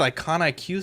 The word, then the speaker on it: Iconiq: how do you pronounce it's icon iq studios but with a queue there's an internal joke